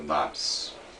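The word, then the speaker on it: knobs: inglês é botão né se escreve kobs a pronúncia correta é nabis lápis em metal não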